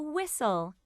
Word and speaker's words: whistle: rhino this is a whistle what's the middle sound in whistle that's right whistle can you hear the t sound in whistle no that's right the t is silent whistle page 68 be